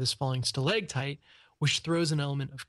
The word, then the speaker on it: stalactite: And there's a G because it's on the ground, and it's a stalactite because it's from growing from the ceiling.